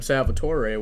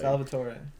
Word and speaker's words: Salvatore: my first name and even my full name salvatore which a lot of people don't know that's my full name which is crazy and there's some reason they find it difficult to pronounce like salvatore is it that hard because i'll salvatore or